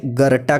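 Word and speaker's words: Goethe: जी हाँ, गोथ लिखा जाता है, लेकिन अगर आप इसे प्रोनाउंस कर रहे हैं तो इसे गर्टा कहिएगा।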